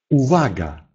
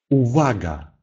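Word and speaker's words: uwaga: Если эта буква стоит перед гласной, то она произносится как «в». Например, «увага», «увага», «внимание».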